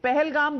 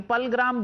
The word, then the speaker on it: Pahalgam: पहलगाम बोलना तो आता नहीं, पलग्राम बोल रहे हैं आप उसको.